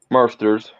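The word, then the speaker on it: Marsters: james marston marston's monsters is it marston's or monsters monsters uh god i've been saying it wrong all this time and no one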